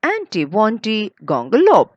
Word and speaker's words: antiwontigongolope: So that's how the poet has broken the words and it's become very easy now for us to pronounce the difficult word.